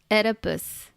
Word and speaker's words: Oedipus: even gonna try anymore it's it what Oedipus Oedipus yes Oedipus I'm going to call him that